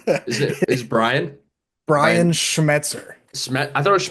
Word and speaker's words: Schmetzer: They're, like Jacob mentioned, their head coach, Ryan Smeltzer, is amazing. You butchered his name. Is Brian? Brian Brian Schmetzer. I thought it was Schmeltzer.